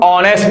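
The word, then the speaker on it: honest: ये जो लव है इसमें ह जो है ये साइलेंट है यानी की ये ऐड जो है ये असल में इसके आवाज़ तो इस वर्ड के अंदर है ही नहीं इसको हम ऑनेस्ट नहीं पढ़ते इसको ऑनेस्ट पढ़ते हैं ऑनेस्ट क्या पढ़ते हैं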